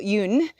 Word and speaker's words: Jung: a beautiful quote by Carl Yun um it's spelled Jung j u n g he was a Swiss